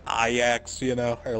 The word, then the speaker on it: Ajax: way you think like Ajax is pronounced IX you know or like